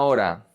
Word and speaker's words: hora: The H is silent. Podemos salir en una hora.